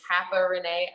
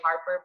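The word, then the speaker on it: haparenee: um my username is hapa renee a lot of people who mispronounce it they say harper but it's h-a-p-a-r-e-n-e-e hacker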